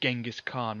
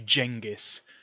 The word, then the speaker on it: Genghis Khan: __ ] anymore unfortunately it's a bit like people saying Genghis Khan and really it was actually jingus it always annoys me when I hear people say Genghis Khan because it was actually Jenga scan yeah then as Giga